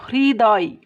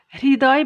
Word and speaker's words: হৃদয়: দেখো, হয়ের সাথে যদি রিকার যোগ হয়, মানে হয়ে রিকার যোগ হয় তাহলে তার উচ্চারণটা হয় ইংরেজি HRI, হ্রির মতো। যেমন দেখো, হৃদয়, হৃদয় বানানের হয়ের সাথে একটা